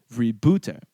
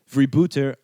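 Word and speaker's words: vrijbuiter: It comes from vibbute, a Dutch word meaning pirate or plunderer. My Dutch-speaking friend tells me I'm pronouncing this correctly.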